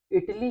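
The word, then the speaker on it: Italie: इटली को French में लिखते हैं हम ई ते आ एल ई ओ। ओके, प्रोनाउंस ऑलमोस्ट सेम होगा, इटाली। Okay, इटाली। Okay, इटली, इटाली।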